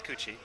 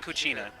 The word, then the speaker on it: Puccia: name is my dog's name is coochie it's actually cooa but I KN was